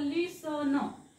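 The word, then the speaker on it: listen: असतो बघा for example लिसन आता याच्यात टी इ एन ही पेअर आहे मग इथे टी सायलेंट असतो लिसन लिस्टन टन टन नाही लिस न लिसन मग हा शब्द काय होईल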